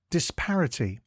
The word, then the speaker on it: disparity: time today's word is disparity it is pronounced disp T and is spelled D I s p a r i t y think this and then party but with an i before the T before we get into